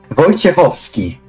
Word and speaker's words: Wojciechowski: Wojciechowski. Voj? Wojciechowski? You spell CH without the C. The C is silent and ofsky.